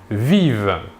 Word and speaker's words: vivent: la troisième personne du pluriel ils ou elles vivent nous remarquons ici que la terminaison 1 mt